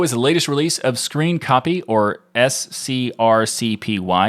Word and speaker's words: scrcpy: the latest release of screen copy or s-c-r-c-p-y i mean it is pronounced screen copy for those who are interested uh it has version